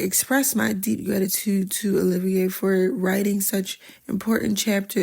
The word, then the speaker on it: Olivier: I'm saying Olivier, but it's spelled O L I V I E R. It could be Oliver, but I'm pretty sure it's Olivier or Olivier.